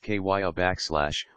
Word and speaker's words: Kiah: Kiah, pronounced Kiah, will be a sniffer for the Poughkeepsie Police Department, used to detect drugs and track missing people.